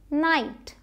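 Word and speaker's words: knight: अब एक चीज़ है साइलेंट के, कई बार आप पाएंगे कि के साइलेंट होता है, और स्पेशली अगर के बाद एन आया है, और मतलब कि वर्ड के शुरुआत में अगर के बाद एन है तो आप के को नहीं बोलेंगे, ये साइलेंट होगा, नाइफ, नो, नाइट, के का कोई साउंड नहीं आया।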